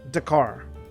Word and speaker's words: Dakar: It's pronounced Dakar.